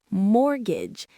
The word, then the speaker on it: mortgage: Next, mortgage. M O R T G A G E. This is a special type of loan specifically for buying property. Notice that T is silent.